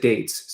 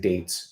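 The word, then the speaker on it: Yeats: because I I think I said deets and dates but uh it's not I kind of cheated right because we know we know Billy dates and he pronounces it William date David's tea oh that's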